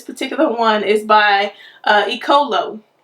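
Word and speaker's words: Eccolo: one is by uh icolo i think that's how you say it ecolo that's um e-c-c-o-l-o e-colo and um i like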